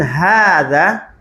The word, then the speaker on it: هذا: Ya, hanya panjang ya. Oh, Itu namanya dalam kaidah la tuktab walakin tuntok. Dia tidak ditulis tapi diucapkan. Hanya panjang, ya. Nggak ada kan ditulis kan? Nah, jadi hanya panjang.